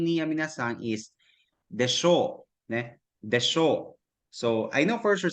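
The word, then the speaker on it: でしょう: But ginapronounce sa desho, pababa siya sa desho.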